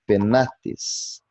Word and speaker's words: penates: Então, suponhamos a palavra penates. A penúltima sílaba é na, e em cima do A vemos o macron, isto é, o sinal de vogal longa, e isso indica que o acento deve cair nessa sílaba, pronunciando-se, portanto, penates.